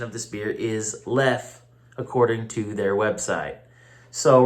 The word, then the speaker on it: Leffe: Now, a lot of people pronounce this beer Leffe or Leffy, but the correct pronunciation of this beer is Leffe, according to their website.